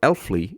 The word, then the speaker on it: Allfly: So now let's go to today's episode, because today's guest is Erik Lithun, founder and CEO of Allfly, or Allfly if you pronounce it the Norwegian way.